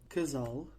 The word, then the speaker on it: Casal: For example, casa, meaning home, and casal, meaning couple. Also, notice the L in the word gazal. This L is actually pronounced ul, the sound you hear at the end of the word feel in English, ul.